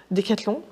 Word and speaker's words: Decathlon: If you look at bronze from, I'm not sure I'm going to pronounce it right, Decathlon, the way that you guys pronounce it, Decathlon for the French people, all the way to